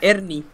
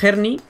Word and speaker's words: Herny: ¿Verdad? Ernie. Ernie, pues ya está. Ernie. Pero nadie, uno lo dice en Herni, casi que yo también le digo Herni.